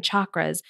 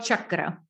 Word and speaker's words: chakra: And for people who are not familiar with the seven chakras, maybe we should start with defining what those are and how they show up for people.